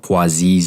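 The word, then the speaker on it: Poiseuille: within the body and this equation is called poises equation and if you're looking at this and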